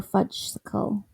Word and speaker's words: fudgesicle: Do you think people say fudgicle or fudgesicle?